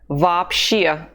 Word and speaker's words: вообще: The two letters O have no stress over them. That is why we pronounce them A, both of them. Вообще.